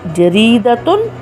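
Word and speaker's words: جريدةٌ: and we pronounce it jaridatun, a newspaper. Jaridatun, a newspaper. When we put the sign of tanween over ta marbuta, it changes the sound of the word and we say jaridatun.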